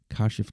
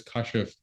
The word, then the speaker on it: Kashif: It's just phonetically, I guess that's how it's pronounced, Westernly, right? But the actual Arabic word is KASHIF. Oh, okay. Yeah. I mean, phonetically, when you look at the spelling, it should be KASHIF in English.